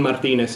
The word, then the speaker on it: Martinez: My name is Martin Martinez, if you can roll your R's.